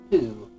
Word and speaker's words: Ho: It may be spelled H-O, but I pronounce it Who, like in Who Done It.